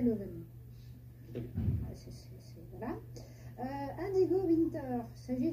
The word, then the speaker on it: Leuven: On peut prononcer Leuven. Leuven. En néerlandais, Leuven.